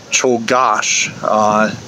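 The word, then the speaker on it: Czolgosz: an anarchist a guy named leon and the pronunciation is challenging but cho gosh decided that he wanted to see anarchy and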